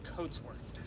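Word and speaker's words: Cotesworth: differently phonetically the same so coat like we wear a coat but his name is coatsworth is he the one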